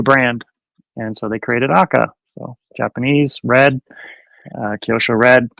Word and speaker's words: Aka: was your departure from Aka, which is how you say it, not AKA like a lot of people know, but AKA, which means red that I found out from you, right?